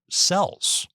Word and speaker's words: Xel: This type of cell technology is spelled XEL, which are the robot counterpart to human cells.